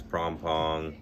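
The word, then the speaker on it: Phrom Phong: You know, got Nana, you got, you know, there's Asok, there's Pom Pom, Ikamai, there's all these different, like, stations, right?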